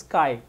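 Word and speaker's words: chi: ये वाला सी एच आई, चाय मत बोलना, दिस इज काई, सी एच आई काई, ठीक है।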